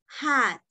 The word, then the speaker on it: hot: enseña quijote no olviden se el hot la pronunciación es hat ok es cuando hace calor